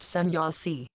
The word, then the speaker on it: Semjase: wisdom from some Yosi pronounced sanyaasi each man and woman